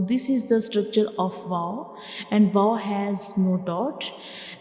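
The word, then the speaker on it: و: We will make a circle with the help of up and down lip, and we don't touch these two lips completely. We only make a circle to pronounce wow, like wow, wow.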